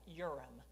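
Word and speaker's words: Urim: Now the word for light you know it's or the plural of that is orim. Now Mormons pronounce that uram. Okay yurum and thumbum.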